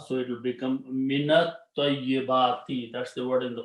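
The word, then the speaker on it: مِنَ الطَّيِّبَاتِ: And when you recite together, you will pronounce this as a fatha, so it will become minat tayyibati.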